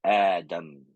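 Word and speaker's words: آدم: nombre del profeta Adán en en árabe es Adam Adam Ah y por eso está escrito así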